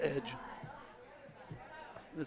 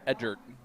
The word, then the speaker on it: Edgett: Edge, what edge? It says Edgett. Edge it. You said Edgert. You put an R in there for no reason.